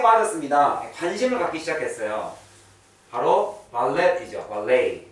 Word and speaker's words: ballet: 이게 프렌치에서 온 단어라서 T자 발음 안 하죠, 보통은. 우리가 잘 알고 있는 부패가요. 스펠링 어떻게 돼요? 이렇게 되죠. 근데 이게 프렌치라서 T 발음 안, 프렌치는 T 발음 안 하죠. 숭어 이렇게 하니까. 그래서 buffet, ballet. 발렛 파킹 할 때도 이 T자로 끝나는데도 발레이라고 발음하세요. 발렛 안 하고.